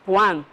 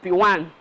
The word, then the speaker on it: PWAN: P1, some people call it Pwan, some people call it Pwan. So whatever way you pronounce it, it's PWAN, which means Property World African Network.